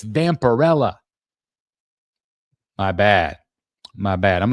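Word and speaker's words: Vampirella: Somebody Somebody messaged me today and they're like, "Chris, it's not Vamprella, it's Vamparella."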